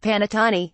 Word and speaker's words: panettone: cherry on top we're of course speaking of panettone pronounced panettone the traditional Italian bread served around Christmas the